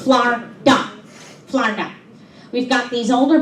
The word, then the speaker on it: Florida: See, down here in Florida, yes, that's right, it's 2 syllables, Florida.